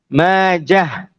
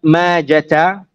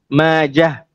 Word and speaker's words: Majah: an alif, ma, and the end of it is a ha with a sukun. End of Ibn Khalliqan's words. Intaha kalamuhu rahimahullah. Can? So it is pronounced as what? Ibnu Majah, not Majata, Majah.